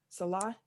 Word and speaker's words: Saleh: Robert Saleh, is that how you pronounce his last name? Salah.